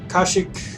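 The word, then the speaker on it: Kashyyyk: uh running theme but here we are on kashyyk ashic however you want to pronounce it I think it's kashyyk but um this is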